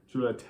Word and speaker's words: Jollite: Well, the accent over the E is an E, so it's Jollite. Jollite.